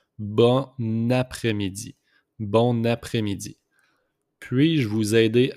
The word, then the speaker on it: bon après-midi: We just make the liaison here with the N and A. So it pronounced bon après-midi.